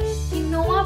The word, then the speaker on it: quinoa: जो लोग नए हैं, जैसे कि कुछ टाइम पहले मैं थी, उसके स्पेलिंग की वजह से क्विनोआ बोलते हैं, पर उसका करेक्ट प्रोनाउंसिएशन है क्विनोआ।